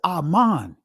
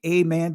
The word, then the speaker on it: aman: In Hebrew, the word is aman. Some of you guys will say amen. That's the Greek pronunciation of it. But aman, it means consistency.